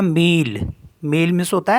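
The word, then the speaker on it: mille: होता है सिटी और एम आई एल एल ई इसको पढ़ते हैं मील मेल मीस होता है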